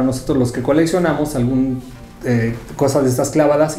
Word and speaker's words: KAWS: Que los que cómo se dicen, que el caos, que no sé qué, la pues Cos es como la pronunciación que podría ser un poco más acercada a como debe ser.